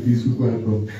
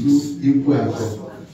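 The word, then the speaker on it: Isuikwuato: And the other, actually, the right pronunciation is Isu Ikuato. Isu Ikuato. A lot of people call it Isu Ikuato. I said it's very different.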